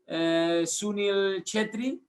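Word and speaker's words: Sunil Chhetri: moment that is a topical score is uh sunil chetri the pronunciation you've got the pronunciation right actually okay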